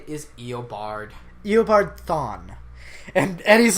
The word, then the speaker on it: Thawne: No, you said it right, Thawne, actually. That's for once. weird. I would say thong because I think of bikinis, swimsuits.